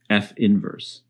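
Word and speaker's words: f⁻¹: the way this is pronounced is simply f inverse and please take note the notation f inverse which is written as f to the minus 1 does not mean f to the power -1 in particular it does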